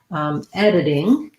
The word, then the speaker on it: editing: It looks like editing, but Americans will often say this as a flap. And so we'll have the sound that's stressed, clear vowel, and then the didding. Just sounds kind of like the word did and an ing.